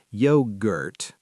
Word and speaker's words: yogurt: The word yogurt sometimes confuses learners because the G is soft, yogurt, and banana is stressed on the second syllable, but na-na.